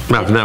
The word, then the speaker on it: avenant: Avenant, oui, pas advenant, excusez.